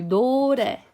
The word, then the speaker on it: 노래: Now, if the consonant is in the middle of the word, like 소리, then it actually the tongue moves further back and it flickers like this. So can you see? So it does this. So 소리, 소리, or 노래, 노래. So sometimes it touches barely, sometimes it doesn't touch at all because your tongue is moving so fast.